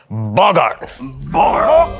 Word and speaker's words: boggart: It's a goblin, but however, they are known on this plane as a boggart. Actually, it's pronounced Bogart.